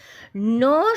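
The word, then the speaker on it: gnaw: নো শব্দটার এখানে জি এর জিটা সাইলেন্ট থাকে। স্পেলিংটা জি এন এ ডবলিউ কিন্তু এখানে জিটা সাইলেন্ট থাকে উচ্চারণটা হয় নজ বা ন এটার মানে হচ্ছে চীবন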